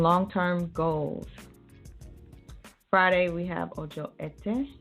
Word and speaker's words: Ojo Ete: Friday, we have Ojo Ete. I think that's how you pronounce it, E-T-E.